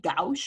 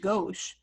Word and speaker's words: gauche: the lyrics i'm like it looks like gaosh or gash or whatever but it's pronounced gauche so i just i